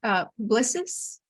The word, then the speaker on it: Publicis: Is that right? Publicis Yes, Sapient, perfect. a digital consulting company. I admit I had to look it up to know how to pronounce it. So It's French.